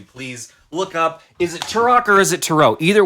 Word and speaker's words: Turok: my back yeah you you nominated tarot right turok you pronounce it turo it's pronounced turok turok they say in the game no i've been